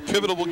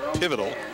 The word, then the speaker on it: pivotal: week at North skook a pivotable game pivotal pivotal couple extra syllables on that first one a pivotal game